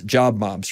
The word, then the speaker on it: JobMobz: thumbnail sketch of of your business and it's job mobs right am i pronouncing that correctly that's correct john awesome yeah